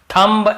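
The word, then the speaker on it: thumb: लेकिन ज्यादातर आप देखेंगे ये सब शब्द में हम एम का दी का उच्चारण नहीं करते हैं कॉम बम थंब ऐसे बोलते द याद रखिए चलिए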